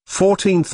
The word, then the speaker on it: fourteenth: how old is she 14th notice that we use th for ordinal numbers starting with 4 but first second and third the stress is on the second syllable 14th compare this with